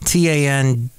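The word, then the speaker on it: TANDM: That's spelled T-A-N-D-M. Tan-D-M.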